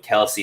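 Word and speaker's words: Kelce: Yeah, I think in the NFL right now it's Kelsey, Kelsey.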